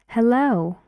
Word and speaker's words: hello: one air air sound hello hello two syllables hello and the stress is on the second syllable yes and one e